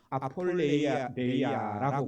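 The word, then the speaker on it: ἀπώλεια: 이 허비라는 단어가 이 헬라어 원문에는 아폴레이아라고 그렇게 이 발음을 하는데요.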